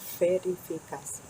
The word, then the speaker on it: verifikasi: Verifikasi. Bien, la letra V sería como en algunos países la pronuncian de fe, más como una F, fe, que de B. Verifikasi.